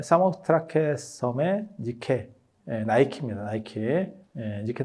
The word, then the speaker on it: 니케: 니케 나이키는 영어 발음 때문에 나오는 거예요. 그래서 그게 승리의 여신이거든요. 그래서 나이키가 승리의 여신 뭐 이렇게 해서 광고를 예전에 한 적도 있죠.